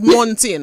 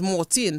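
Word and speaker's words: Montine: in we just Chang it's spelled m o n t i n e but it's Mortin so the say say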